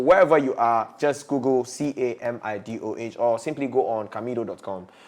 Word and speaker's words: Camidoh: The name is spelled as Camidoh. Camidoh.